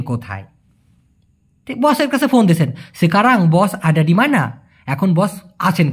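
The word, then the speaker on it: sekarang: সেকারাং অনেকে বলে ইশকারাং। না ভাই ওটা সঠিক উচ্চারণটা হবে না।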